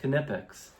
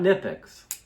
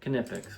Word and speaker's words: Knipex: Uh at work I actually talked to the Knipex rep and it is pronounced Knipex, not Nipex, but Knipex. We say the K.